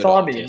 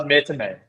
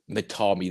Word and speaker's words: Matami: You'd think after the years I'd know, but no, we so had it's really Matami, not Metame. Matami.